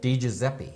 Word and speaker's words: Di Giuseppe: Although the spelling is incorrect, it's pronounced Teresa Giuseppe. Giuseppe. Di Giuseppe? Di Giuseppe.